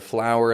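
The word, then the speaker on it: flour: same, whether it's the flower in the kitchen or the flower in the garden. Same sound, because even though for that F-L-O-U-R, there's no W in it, we still make a clear W sound.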